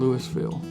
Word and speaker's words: Louisville: I'm from a little town in Mississippi called Louisville. It's called Louisville because we pronounce our S's down there. It's spelled the same as Louisville.